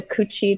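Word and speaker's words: Cu Chi: do it down at this place called the coochie tunnels I swear that's the real name yes but it's spelled Cu space c-h I do Chi Tunnels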